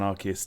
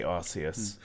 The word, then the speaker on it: Arceus: to pronounce it legends arceus see i would say something wrong that wouldn't be the right name or arceus people pronounce arceus and arcus differently but i say arceus so obviously what is